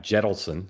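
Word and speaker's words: Jentleson: hometown, started by a former Reid aide, Adam Jettleson. Is that how you pronounce his name, Dan?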